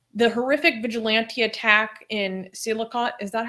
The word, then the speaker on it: Sialkot: So on the day of the murder, December 3rd, he said, the horrific vigilante attack in Sialkot, is that how you say it, Ali? Sialkot.